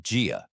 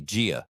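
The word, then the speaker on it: 家: Gia, pronounced Gia. Listen carefully. Gia. It sounds like the J in jar.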